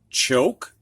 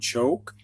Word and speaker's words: choke: chap chop chum chase choke that silent e makes the o say it's long o sound choke just like the silent